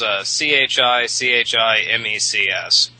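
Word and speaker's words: Chichimecs: hell I'm saying uh chichim X is chi chi mecs and beginning here with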